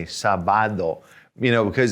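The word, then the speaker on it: sábado: different letter so here we've got an accent on the a the first day so everybody's saying sabado sabado there you go now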